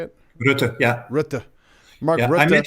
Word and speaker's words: Rutte: Rutte, yeah.